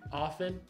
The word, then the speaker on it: often: it is aa thing often there's no T at the end is there a T